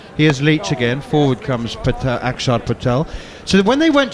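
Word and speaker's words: Axar: Which is why it's pronounced Akshar as opposed to Aksar.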